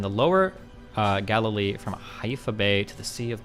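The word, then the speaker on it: Haifa: He hifa is pronounced hifa. Hifa.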